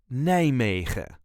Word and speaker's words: Nijmegen: This is the way us Dutchies say Nijmegen. Nijmegen. There is a light emphasis on the first part. Nijmegen. Nij-megen. All the letters can be pronounced, but normally we will drop the last letter, the N.